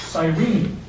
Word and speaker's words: Cyrene: now he came from a city that is pronounced Cyrene which is actually a very interesting little place